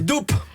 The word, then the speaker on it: doupe: Chez Doupe. Ah oui, doupe. Alors, doupe, je savais pas dire double, hein, qu'on aurait oublié de prononcer la fin, comme on dit un trip, hein, quand on veut commander une bière normale.